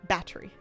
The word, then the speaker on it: battery: British people are really committed to making battery into two symbols. Battery.